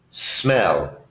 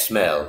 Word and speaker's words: smell: this smell this okay notice here it's the word is smell it begins with the letter s so the sound of the word begins with the letter s smell it is not as smell no this is wrong